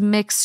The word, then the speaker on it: Mx: doesn't indicate a marital status MX this is mix Schaefer and they head up the financial department